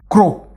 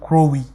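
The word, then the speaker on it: Crowwe: Help me pronounce it correctly. Crow. Okay. Because it's a community application, we refrain from forcing a name on people. Some people prefer to call it Crowy.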